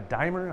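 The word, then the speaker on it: Diemer: who watches so show Kurt a dimer I believe is how you say he's an edema dimer di e m ER but Kurt stopped by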